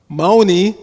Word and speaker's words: Mauni: Mauni, the Sanskrit word Mauni, long I on the end, means silence.